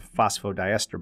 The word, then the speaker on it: phosphodiester: that's a mouthful but if we broke it down into its syllables we we have let me make this as easy as possible phospho and even though that's two syllables i want you to look at it as phospho because look what this is referring to phosphate that's why it's phospho that's why i've been showing